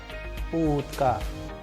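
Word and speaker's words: утка: With the help of English word for approximation, let's pronounce the sound of oo as in pool. Pool. And with the help of sample Russian word, we can pronounce oo as in utka. Utka which means duck.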